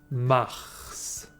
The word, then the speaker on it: mars: sainte anne à 15 et 16 mars bottes mars mars hydraulique en avril amy winehouse différentes dates de prononcer un jeune fille au maïs bt faggot